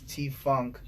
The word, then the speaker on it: T.Fvnk: f v as in victor NK t funk pronounced don't forget the dot don't yes right right